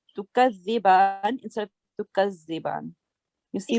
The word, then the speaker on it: تكذبان: Let's take the tongue, take your tongue out and touch your upper teeth. And now please say the letter. تكذبان. Yeah, so only for the letter dal, not for the whole word. Tukaziban.